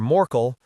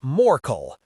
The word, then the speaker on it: Morl: Well, thanks, Mr. Moral. That's Morl. He pronounced it with a liquid lilt at the end of the word.